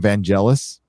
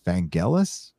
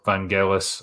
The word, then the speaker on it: Vangelis: i guess mispronouncing it's i call him van jealous but i guess it's vangelis i heard that recently